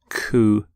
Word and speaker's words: coup: the pronunciation of coup you don't say the P don't sound a P at the end coup here's the your next